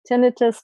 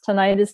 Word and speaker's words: tinnitus: have dizziness or tinnitus tinnitus tinnitus depending what country you're from how you might pronounce this but if it's a